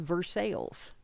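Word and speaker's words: Versailles: where I live okay that is called verses it is spelled Versa and you and you have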